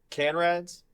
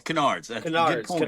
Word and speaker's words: Canards: Now, how do you say is it canrades? No, no, it's Canard, man.